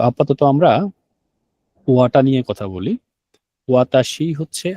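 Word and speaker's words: は: হা, হাটাকে আমরা উচ্চারণ করব ওয়া। কেন? কারণ হাটা যখন পার্টিকেল হিসেবে ব্যবহার হবে, তখন এটার উচ্চারণ হয়ে যাবে ওয়া এর মতো।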